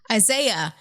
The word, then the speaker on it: Isaiah: blood of isaias did i say it right isaiah isaiah i called it isaiah's blood it did